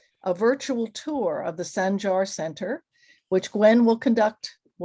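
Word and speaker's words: Sancar: So we're thrilled today to bring this program to you, and thrilled that the Sanjar, is that the correct pronunciation, Gwen? Sanjar? Yes, in Sanjar Turkish, Center. a C is a J.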